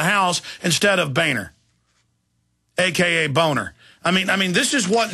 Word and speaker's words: Boehner: of his real name, Boner. I don't know. I mean, that's how it's pronounced. It's German. It's Boner.